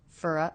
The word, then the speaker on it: for: went for a run fer fer ah Tom reduced the vowel in the word for to the schwa and we've connected these